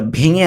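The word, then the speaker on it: vu: টি কে উচ্চারণ করব বাংলায় হলো তয়র শিকার তি। তি, নট টি। ঠিক আছে? আমরা জিভার যেটা ভেঙে আনি টি, ওইটা হবে না।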